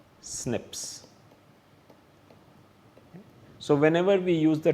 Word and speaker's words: SNPs: written as cpes and they're pronounced as Snips so whenever we use